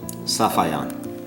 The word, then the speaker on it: Safayan: me directly oh the right pronunciation of your name doctor is safayan Oscar thank you